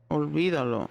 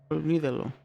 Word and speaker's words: olvídalo: That is not how you say that word, nor is that correct Olvídalo is what she meant. Forget it. Olvídalo. That's how you say it. Olvídalo.